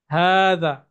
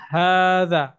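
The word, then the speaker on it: هذا: হার উপরে একটা খাড়া আলিফ আছে, যেটা মাদের হরফ বলি আমরা।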